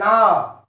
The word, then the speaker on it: hour: An hour. Mark here. H-O-U-R. H is here silent, so we use N.